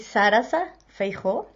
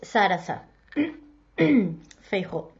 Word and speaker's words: Sarasa Feijó: So my name is Sarasa Feijó. I know it's confusing because it's written Saras, but it's pronounced with a little a at the end as Sarasa Feijó.